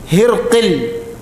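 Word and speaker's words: هرقل: അദ്ദേഹം തർജ്ജുമക്കാരനെ വിളിച്ചു അപ്പൊ ഹിറക്കൽ എന്ന് പറയുമ്പോൾ ഈ വാക്കിന് രണ്ട് ഉച്ചാരണ രീതിയുണ്ട് ഒന്ന് ഹിറക്കൽ ഹാഇന് കസ്റും റാഇന് ഫത്ഹും കാഫിന് സുക്കൂനും രണ്ടാമത്തെ ഉച്ചാരണ രീതി ഹിർക്കിൽ റാഇന് സുക്കൂനും കാഫിന് കസ്റും ആദ്യത്തെ ഉച്ചാരണ രീതിയാണ് കൂടുതൽ അറിയപ്പെട്ടത് അദ്ദേഹം തർജ്ജുമക്കാരനെ വിളിച്ചു തർജ്ജുമാന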